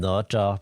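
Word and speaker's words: Nezha: So then Prince Nada confronts Wukong, who's like, what are you? Well, the Chinese call him Naja, but I don't know where this Nata pronunciation came from.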